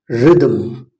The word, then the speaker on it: rhythm: ರೋ, ಮೋ, hour, honour, honest, homage, heir, herb, ghost, not ghost, ghastly, aghast, ghetto, gaul, rhinoceros, not rhinoceros, rhyme, not rhyme, rhythm, rhythm, exhibit, exhaust, what, why, not why, school,